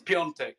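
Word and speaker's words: Piątek: It's Piontek, which is Polish for Friday.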